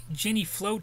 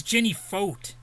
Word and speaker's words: Jenny Foat: gretna louisiana uh quits jenny float of the murder of argentine businessman moses chio never heard of jenny float before sounds like a kind of uh oh it's jenny foat i was saying float like i was probably